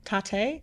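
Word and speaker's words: Tatte: I love tate. I think I had at least 8 of the desserts in Really? over 4 days. Tate. It's pronounced instead of latte, it's called tate.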